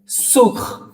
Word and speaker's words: sur: सुख, क्या प्रोनाउंस करोगे इसे? सुख। इसका मतलब होता है ऑन। ओके, सुख ऑन, जैसे टेबल के ऊपर, चेयर के ऊपर, उस वाले ऑन। सुख साउंड इंपॉर्टेंट है, बोलो सुख।